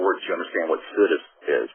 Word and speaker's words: situs: Now, some people do situs. I do what I think is the American way. I just look at it exactly the way it's written, and it says situs to me.